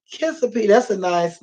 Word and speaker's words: Kissimmee: that's what she said she said I think it's pronounced could see me and I mama said not think it's pronounced kissa P so it's like now it's pronounced kissimmee mommy so then they